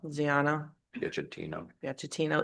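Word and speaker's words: Ziano Piacentino: Ziano, Piacentino.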